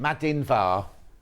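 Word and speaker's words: Madainn mhath: you my love how do I say it madin VAR did you know that madin okay right the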